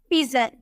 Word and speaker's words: pigeon: लेकिन अगर हमें बोलना हो PIGEON, जी के बाद आपको ई नजर आ रहा है, तो इसे हम बोलेंगे पिजन, ज में प्रोनाउंस करेंगे, पिजन बोलेंगे, ठीक है।